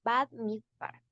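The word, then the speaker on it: במדבר: Bueno, en la pronunciación se pronunciaría Bad Midbar.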